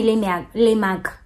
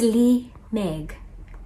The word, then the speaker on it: Leigh Meg: Don't call me Leigh Meg. It's Leigh Meg.